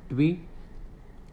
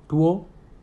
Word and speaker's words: TWO: ट्वी। TWA? ट्वा। TWO? टूओ। TWO हो गया होता है। टूओ। TWO? टू।